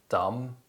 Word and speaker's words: dumb: as det and lamb the letter b is often silent when it appears before the letter t and after the letter m usually at the end of words other common examples include dumb plummer doubt subtle now